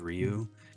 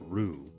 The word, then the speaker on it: Ryu: saying no it's pronounced Rue like Rue no it's not Rue yeah it's definitely not rude like do you the the r is not even it's like a d basically I know it's kind